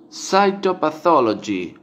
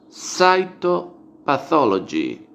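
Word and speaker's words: cytopathology: estudiar bien luego de egipto compatibility histocompatibilidad tenemos saito pathology saito pathology salto y sí citopatología citopatología sería entonces saito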